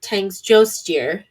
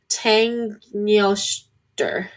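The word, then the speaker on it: Tanngnjóstr: He rides in a chariot pulled by two goats, Tansgrisnir and Tangsjostir. That's not how you pronounce that. I can tell you that right now. But Tangnjoster. They're two goats, and they pull his chariot, which I just love.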